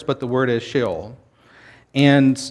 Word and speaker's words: Sheol: but the word is shill and that's how it's pronounced in hebrew as well and it simply means